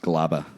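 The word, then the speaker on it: Gleyber: Gregorius, Gary Sanchez, Stanton, Encarnacion, Voit, Hicks, and Glaber. Yeah. That's their potential lineup for the It's playoffs. pronounced Glaba.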